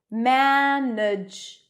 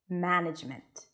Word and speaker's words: management: listen to the word management one of the vowels is not pronounced so actually we're saying